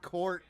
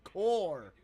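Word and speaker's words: corps: But man, not the receiving court AI summary, receiving core. The P is silent.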